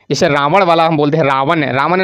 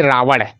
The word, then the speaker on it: रावण: हमारा क्या होता है रावण नहीं रावण है ना शुद्ध उच्चारण रावण है इस तरह जब किसी